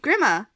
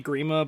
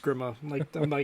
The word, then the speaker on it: Grima: Yeah, I mean, like, in Maltese, which is my nationality, they'll say Grima, but I anglicize it. I'm always Grima.